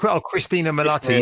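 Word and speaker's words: Cristin Milioti: Christina Milioti.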